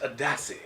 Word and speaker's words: ADACI: So that's what ADACI is, but it's pronounced ADACI.